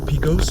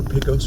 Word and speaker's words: Pecos: This light up here is Pecos or Pecos Road, depending upon how you pronounce it. I've heard both ways. I've had comments in the comment section tell me both ways. I will say it both ways for everyone.